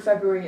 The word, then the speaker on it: February: So what that should look like, the word February itself is F-E-B or U-A-R-Y. So that's February. We don't hear the or generally when we're speaking, so that's one of those ones with the silent letters we mentioned last week.